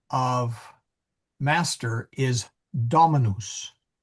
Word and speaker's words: Dominus: Now, getting back to the Emilia, the correct pronunciation of master is Dominus. Dominus. And the accent is on the da.